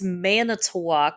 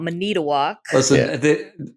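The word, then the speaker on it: Manitowoc: Yeah, it's Manetwalk, Wisconsin. It's not Manitook.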